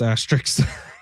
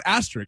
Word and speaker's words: asterisks: 619 says Sammy can't even pronounce asterisks. I can pronounce astster. Uh, Sammy, why do you pronounce asterric? Asterric. Sammy. Asterisks.